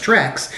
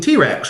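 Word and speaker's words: T. Rex: he doesn't know like the song by t-rex that he thinks is pronounced tricks cuz he's never actually heard it pronounced really talked to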